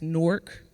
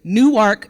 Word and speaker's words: Newark: I am a girl from Newark, New Jersey, and I said it right. It's Newark, New Jersey, Newark, Delaware. I said it a bit different.